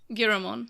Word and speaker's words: Giramon: I'm really happy to see Giramon, or Yeah. Garamon, how you say it, but Giramon.